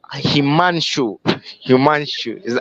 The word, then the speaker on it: Himanshu: So, Himanshu, am I pronouncing it right? He Himanshu, Himanshu.